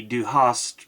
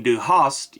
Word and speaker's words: Du hast: entender host or host the close pronunciation between Du Hast you have and Du Hast you hate plays on two meanings